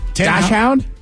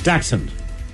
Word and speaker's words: Dachshund: Dash hound? Dash. You say dash? Dash hound. Dash Dotson? Would you say? Dotson. It is Dax. D-A-K-S. Hund. Dachshund. Really? So the correct pronunciation is Dachshund.